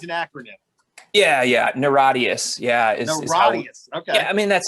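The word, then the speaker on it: NIRATIAS: it's a nia terrorist is that how you pronounce it i know it's an acronym yeah yeah naradius yeah okay i mean that's how we say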